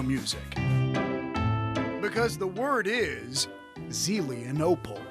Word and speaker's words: Zelienople: Because the word is Zelienople. How would you pronounce that? Zelenople. Zelenople? Zelenople? You got it. All right. Zelenople.